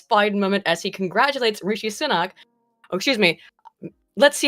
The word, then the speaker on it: Rishi Sunak: Rashi Sunak is how he pronounced it. Now look, come on, wait a minute guys, I pronounce shit wrong all the time, but I don't know how you got Rashi Sunak from Rishi Sunak.